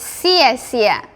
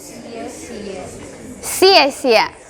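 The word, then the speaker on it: 谢谢: The right pronunciation is 谢谢 Because it's C. This one and this one together. 谢谢 24.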